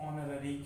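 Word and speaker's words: honorary: नहीं मिलती है उसको ownerry कहते हैं क्या कहते हैं ब्लू से देखेंगे आप ह ओ एन ओ वेरी देखिए इसमें ह साइलेंट ह क्या है साइलेंट ऐसा पद ऐसी पोस्ट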